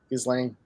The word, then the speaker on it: Ghislaine: I say Elaine with a G. Ghislaine.